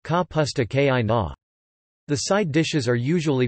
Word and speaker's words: kapusta kiszona: seared beetroot, or sauerkraut Polish, kapusta kizona, pronounced ka pusta ki na.